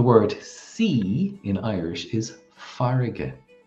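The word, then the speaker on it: farraige: So the word sea in Irish is farige. Farige.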